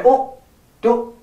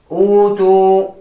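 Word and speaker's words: أوتوا: Do not say أُوتُ. Wrong. أُوتُ. That is wrong, But the proper way to recite that is utu.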